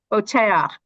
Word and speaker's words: Boteach: Is it pronounced Botiach? Boteach? Boteach.